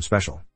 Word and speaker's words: special: how to pronounce to differ spatial from special it always bugged me that I do not